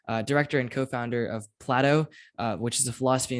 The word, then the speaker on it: PLATO: although I will say it's Plato like the philosopher right I think the